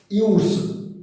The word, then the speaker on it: use: Now use, when it is used as noun, it is pronunciated use, but when it is used as verb, it is pronunciated use.